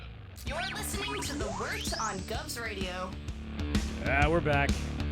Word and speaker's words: wort: Wort is pronounced wort, not wart.